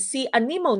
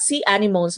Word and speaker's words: anemone: hydra jellyfish coral and sea anemone you pronounce this as a si animoni indi po si animonsan it's not sea animals but it's it's sea anemone and these are the